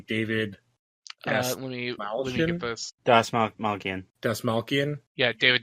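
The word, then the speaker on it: Dastmalchian: Someone else please pronounce his last name for me. David Let me get this. Dasmalkian. Yeah, David Dasmalkian.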